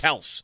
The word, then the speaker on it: Kelce: Like, Travis Kelce said 5 years ago, his last name is pronounced Kels.